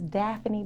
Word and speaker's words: Daffini: wrong all the time yeah it's daphne it's daphne bo anyone ever felt some type of way